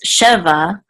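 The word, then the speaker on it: שבע: So this is, the accent was on the last syllable because it really went together with this word right here to say 17, not just 7. But here, it's just Sheva, because it's just 7, not 17.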